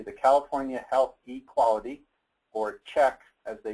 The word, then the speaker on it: CHEQ: program to be the California Health equality or check as they pronounce it CQ and part of what they